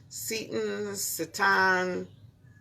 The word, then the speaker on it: seitan: So we're doing this No Meat May, and there's this stuff called seitan. I don't know how to pronounce it.